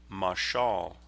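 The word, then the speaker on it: מָשָׁל: German vilhelm jenius it's a masculine noun that is pronounced in Hebrew masal notice how jenius makes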